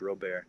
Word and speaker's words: Robert: is uh jrobes my last name is spelled like Robert but it's um Cajun French real bear so short version of